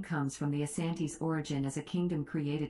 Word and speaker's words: Asante: name comes from the asante's origin as a kingdom created to fight the dankier kingdom the variant name the shanty comes from british reports that transcribing asante as the british heard it pronounced ashanti the hyphenation was subsequently